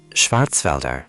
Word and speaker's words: Schwarzwälder: मुख्य बात Wälder में मौजूद ä है, जिसका उच्चारण bed में मौजूद e के समान होता है। Schwarzwälder. Schwarzwälder. Schwarzwälder Kirschtorte.